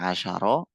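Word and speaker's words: عشر: Kalau dia tidak diakhiri tak bacanya asyaro. Kalau tidak diakhiri kalau diakhiri tak bacanya asyrota. Asyaro sama asyrota.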